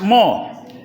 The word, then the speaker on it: more: bahasa Inggris dihilangkan E r-nya itu much more Ah tapi dalam hati kita ada more bacanya mo saja ya nah sekaligus kita memantapkan